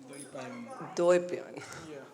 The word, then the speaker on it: Dwaipayan: How do I pronounce it? Dwai? Dwaipayan.